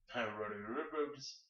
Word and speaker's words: Rodez: Roadie? Roads. And that's Roads spelled R-O-D-E-Z.